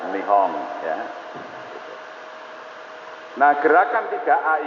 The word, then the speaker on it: Nihon: pemerintahan baru dari mihong Kalau tulisannya Nippon bacanya nih Om ya betul tulisannya itu Nippon tapi orang Jepang membaca nih Om ya Hai nah gerakan